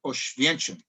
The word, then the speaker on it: Oświęcim: just west of Warsaw, was a city called Oświęcim. In Poland, it's taken me a few hundred times to somewhat authentically pronounce that.